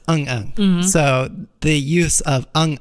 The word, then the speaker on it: 응응: So it means like yes or and it's pronounced Eung Eung.